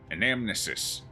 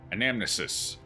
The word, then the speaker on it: Anamnesis: Anamnesis. Anamesis? Anamesis. I think it's like damn, where the N is silent. Because trying to say it with the M and the N is hell.